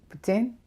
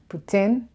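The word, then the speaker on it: poutine: things Putin or puts in if you're French putain not good I don't say that that's bad Putin is how it is pronounced cheese with gravy cheese's gravy fries with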